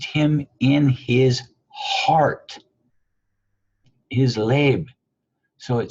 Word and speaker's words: לֵב: LABE, as you see, LABE as the pronunciation, is the heart.